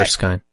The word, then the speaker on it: Erskine: How do you pronounce her last name? Erskine. What was it? Okay. Erskine.